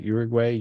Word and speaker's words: Uruguay: Uruguay? Did I say it right? Uruguay.